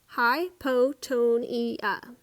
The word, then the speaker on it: hypotonia: technically that's called hypotonia you say it like this hi PO Tony it's a big word